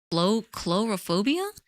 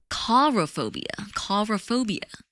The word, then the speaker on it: coulrophobia: how do you pronounce this word? Is this the actual phobia for phobia of clowns? Chlorophobia? Intense irrational fear of clowns. Coulrophobia.